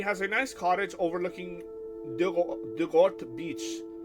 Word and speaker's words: Dugort: She has a nice cottage overlooking Dugort Beach. How was this pronounced? I forget. Half swallowed by fuchsia bushes and giant rhubarb. Let's see. Dugort. Dugort. Not Dugort, but Dugort.